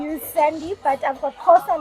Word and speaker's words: Xhosa: I'm Xhosa. Now say it the right way. Now say how do you say Kosa? Okay. Yeah. Ndingumxhosa, ngisuka Eastern Cape eBizana. Where's the click though?